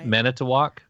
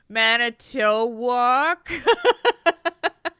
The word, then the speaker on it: Manitowoc: Manitowoc.